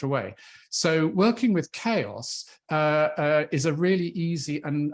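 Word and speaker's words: Qeios: send them off to this publishing platform called chaos it's it's uh spelled quios but it's pronounced chaos and and here you'll find the same thing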